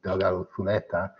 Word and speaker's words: Delgado Zuleta: And it's actually aged at the Delgado Zuleta in Spanish proper pronunciation, Delgado Zuleta, in Sanlúcar.